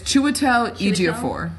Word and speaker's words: Chiwetel Ejiofor: He was in Help me something pronounce else. his name. Cheadle. It's Chiwetel Ejiofor.